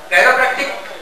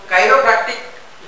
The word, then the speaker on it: chiropractic: मैं काप डॉक्टर हूं कैपटिक बोलते लोग बोलते ये क्या हैरो तो इसकी स्पेलिंग जो है ना सी है चासी शुरू हो रही है ये काइरो प्रैक्टिक जो वर्ड है ये ग्रीक वर्ड है ये ग्रीक लैंग्वेज से